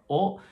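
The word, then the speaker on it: を: And the same is true for o. It used to be pronounced, this is actually the hiragana character for the sound wo, but everybody still pronounces it o, and they decided, okay, we're just gonna leave it.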